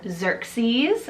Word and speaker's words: Xerxes: Now this one is derived from the Persian name Xerxes, spelled X-E-R-X-E-S.